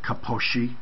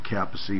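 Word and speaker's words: Kaposi: that is Capac saroma some uh purists call it Koshi because I think that the Doctor Who it's named after pronounced his name that way but everybody calls it capy or Koshi saroma um it is a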